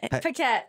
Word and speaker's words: Paquette: of WWE, but your last name is Oh, pronounce it. Give it a try. Give it a whirl. Paquette.